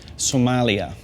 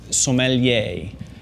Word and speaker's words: sommelier: First of all, what not to say, Somalia.